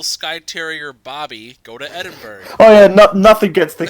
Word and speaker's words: Edinburgh: Edinburgh. That is not how you say it. Edinburgh.